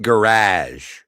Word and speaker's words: garage: get this to the garage. The front wheel shouldn't be doing that." And Elvis said, "Okay, Scotty." That's it. That's the entire interaction. It's pronounced garage. It's like sabotage.